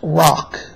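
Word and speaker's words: Roch: you do have a spiritual connection with st Rock um he was a saint in France the name is spelled r c h or some people spell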